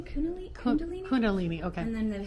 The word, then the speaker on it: Kundalini: Is that how you pronounce it? Kundalini. Kunal. Kundalini.